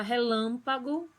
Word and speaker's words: relâmpago: E na palavra relâmpago, o lam é a sílaba tônica.